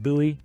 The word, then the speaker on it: Bowie: Down here, you get to James Buouie looks like Bowie, pronounced Buoie High School.